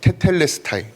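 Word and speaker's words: τετέλεσται: 개혁 계정에서는 다 이루었다라고 번역한이 말씀을 헬라어로는 테텔스레스타이 테텔레스타이 연습을 열심히 했는데네 꼬였습니다. 테텔레스 다이라고 읽습니다.이 단어는 당시 상업적으로 아주 중요하게 쓰였던 단어입니다.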